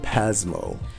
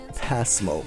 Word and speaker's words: PASMO: like to call it pasmo and so it confuses some Japanese when said like that so try to pronounce it pasmo with a soft s when you can that's lesson one okay